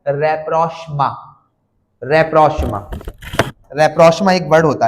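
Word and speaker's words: rapprochement: उसके लिए अंग्रेजी में एक वर्ड होता है रेप्रोष्मा।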